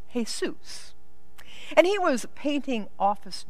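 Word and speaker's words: Jesús: spelled the same way we spell Jesus, but pronounced Jesus.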